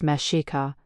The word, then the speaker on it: Mexica: The people you know as Aztecs called themselves the Mexika, pronounced meshika.